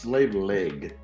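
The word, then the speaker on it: Sliabh Liag: silky and it's pronounced slave leg it's not spelled like that but that's how it's pronounced oh it's like refine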